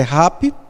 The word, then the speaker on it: Hapi: E também havia um deus, o maior de todos, talvez a pronúncia varie, né, dependendo do texto que se consulte, mas em linhas gerais a pronúncia é Hapi.